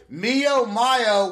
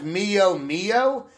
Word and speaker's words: Mio Mayo: to go ahead and play Mio Mayo which I accidentally pronounced as Mio Mio earlier you can you can